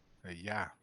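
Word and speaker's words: ja: say yes in Dutch yeah duh it's like German yeah okay j-a yeah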